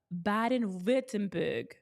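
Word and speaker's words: Baden-Württemberg: right bden V10 yeah the W I should have known it's like it's like Vagner Wagner it's a v it's not a w it's broke perfectly too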